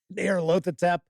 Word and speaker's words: Nyarlathotep: Cthulhu, Haster, Nyarlathotep. Okay, so that's how I pronounce these.